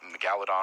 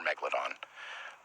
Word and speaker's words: Megalodon: It's the same thing, Megalodon or Megalodon.